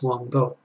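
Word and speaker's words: Huang Po: of my favorites called The Zen Teachings of Wang Bo, spelt Wang Po, but it's pronounced Wang Bo.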